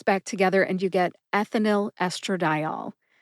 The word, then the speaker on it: ethinyl: And put both words back together and you get ethinyl estradiol. Ethinyl estradiol. Emphasize eth in ethinyl and emphasize di in estradiol.